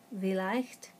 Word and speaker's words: vielleicht: IE is pronounced as a long E, as we, or vielleicht.